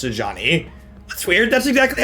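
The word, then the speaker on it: Sejuani: I don't mean to be annoying, but I was watching your Frozen Mushrooms videos, and Sajani is pronounced Sajani.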